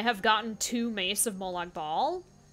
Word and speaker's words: Molag Bal: gotten two Mace of Molag ball or Molag Bale I guess is how he's supposed to be how it's supposed to be pronounced but I don't think anyone calls it that not even the game